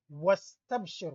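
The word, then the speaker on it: واستبشر: But when you look at something like wastabshir, where is the alif? It's not pronounced. It's pronounced as if it's not there. Wastabshir. It's like waw, fatha, and sin.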